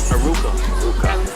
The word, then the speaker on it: Aruca: Aruca. Did I say it wrong? No, you No. Did I say it wrong? No, you didn't.